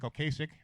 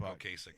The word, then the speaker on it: Ocasek: Ocasek is, I believe, the proper pronunciation.